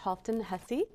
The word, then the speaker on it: Halfdan Hussey: Today I have a leader in the arts, in theater and film, and the founder of Cinequest, one of the founders, Halfdan Hussey. Did I pronounce it right?